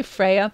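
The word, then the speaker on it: Freyja: it's different people safe I say Freya and the J is silent but yeah I feel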